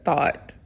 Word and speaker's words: Thoth: Masons also associate Hiram Abiff with Hermes Trismegistus, the Greek name of the Egyptian god Thoth, which I usually pronounce it as Thought, and considered him a contemporary of Moses and Solomon, whom Mr.